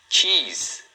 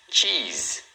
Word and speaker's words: cheese: Cheese. Cheese. Então aqui também é uma sílaba. Cheese. O único detalhe é que a pronúncia final aqui do se é um som de z, tá?